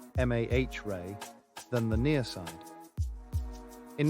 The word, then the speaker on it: mare: uniformly bright with fewer dark mares lava filled impact basins pronounced Mah Ray than the near side